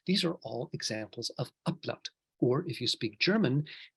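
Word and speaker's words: Ablaut: Anyway, so we're going to talk about something called upload, which is spelled with a B but pronounced with a P.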